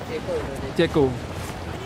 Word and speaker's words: Czech: Ceko. Cara bacanya cek gitu. Nggak tahu aku. Masih bacanya cek.